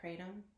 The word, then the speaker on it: kratom: or six I'm not sure did you try kratom that's how you say it kratom no I'd never tried kratom I was gonna